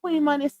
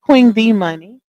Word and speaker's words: Queen D Money: I gotta try to get accustomed to saying it correctly because I've been saying her name wrong, y'all. I just been skipping clean over the D in her name for some reason.